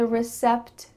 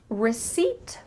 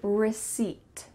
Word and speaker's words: receipt: Did you hear receipt or recept? You heard number two, but that's not correct. Instead, the P is silent. So you're going to say receipt.